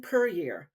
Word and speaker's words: Puryear: today we have Alison perier and she is quick to let you know it's pronounced like Courier did I get it